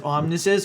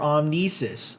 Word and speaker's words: Omnises: You can pronounce it as Omnises or Omnises.